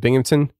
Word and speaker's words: Binghamton: uh bing bing how do you say it binghamton binghamton yeah uh that i know those are